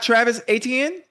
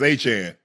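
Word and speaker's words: Achane: It's like Jackie Chan.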